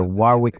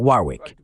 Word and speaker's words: Warwick: Et tu sais, j'ai appris que je dois vraiment réprimer l'envie de prononcer le deuxième W dans ton nom.